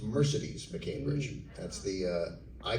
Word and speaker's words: Mercedes: So her name is pronounced Mercedes McCambridge. That's the, I called her Mercedes. Everyone called her Mercedes because there's a automobile.